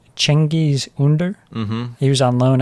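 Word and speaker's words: Cengiz Ünder: And then there's, I think it's pronounced Cengiz Under.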